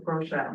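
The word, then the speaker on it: Groeschel: really is um I want to get his name wrong Rochelle oh Craig Craig Rochelle right yes so um he's powerful too and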